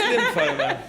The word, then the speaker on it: lymphoma: It's lymphoma. Oh, Mr.